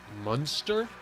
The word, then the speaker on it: Munster: Yes, Munster is how you say it?